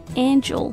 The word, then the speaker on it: angel: 我想起来这个天使 Angel 和角度观点叫做 angle，